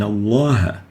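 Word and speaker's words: الله: to have cream we have to say in Allah and we shouldn't say the lamb has to be pronounced villarized another example the lamb here the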